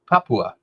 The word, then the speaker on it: Papua: Oh, Papua. Papua. Wait. Practice. Wait. No. Just say it. Papua. Papua. There you go. I got it.